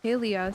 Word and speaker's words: Palia: about the Highlands and then the dev said Paleia.